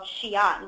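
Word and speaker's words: Xi'an: Our program in China is actually in a city called Shiion, which is spelled Xi apostrophe an Xian is an interesting place.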